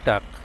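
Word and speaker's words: talk: টি এল কে, এর এর উচ্চারণটি, এল এর উচ্চারণটা এখানে না আসে, এখানে আছে টি এল কে, টাক।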